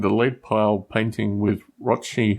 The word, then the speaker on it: Rothschild: Saving a bunch of money is part of that, and ending the lead pile painting with Rothschild, whose name's rhymes with Rochford, which hopefully will happen by February next year or thereabouts.